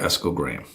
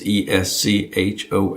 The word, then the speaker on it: Esco Graham: I mispronounced his name for the longest time. It's Eschol, and I'm calling him Eschol. And somebody corrected me, no, who knew him? Said, no, it's Esco Graham.